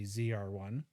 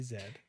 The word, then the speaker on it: ZR1: of the world a lot of people say ZR1 but in Canada we say Zed well my YouTube channel